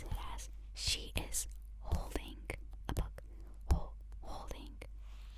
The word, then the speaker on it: し: So, she, you pronounce it as she loves something. She, as in she goes shopping.